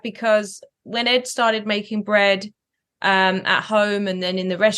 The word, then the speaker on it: BReD: So let's just call it bread, spelled like Ed, BRED.